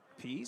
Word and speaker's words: Pease: Batting 7th, the catcher, third base hit of the day Sam Pease. for Northern Colorado. That brings up the catcher, Sam Pease. Pease, spell it P-E-A-S-E, the junior from Fort Collins.